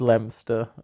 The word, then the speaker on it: Leominster: It's like, it's Leominster. It's just, there's no O.